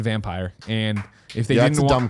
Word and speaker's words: Vampyr: about this oh saying the official pronunciation of Dampier I've heard this is vampyre yeah as that's how the devs pronounce it in their videos sure they're also foreign